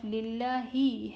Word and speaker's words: لله: Instead, it would be read with e sound.